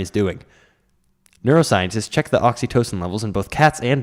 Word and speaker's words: oxytocin: we go there is oxy oxytocin that's how it's said oxytocin is a chemical